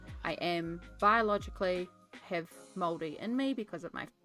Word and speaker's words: Māori: it like this, but I used to say Mari, and it's not, it's Māori.